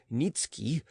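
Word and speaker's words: Niëtzky: The family tradition was that a certain Polish nobleman Nikki pronounced Nitski had obtained the special favor of Augustus the Strong, King of Poland, and had received the rank of Earl from him.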